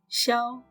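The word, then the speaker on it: 驍: characters are xiao and xiao means a strong horse pronunciation is like shout but without t in the end so it will be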